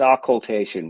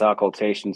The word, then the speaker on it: occultation: some people think it's occultation some people think it's occulation of them are wrong though yeah it's it's